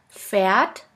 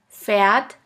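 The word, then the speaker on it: Pferd: letter combination PAF PAF which sounds like a puff sound here we have the example of the word phat phat which means horse the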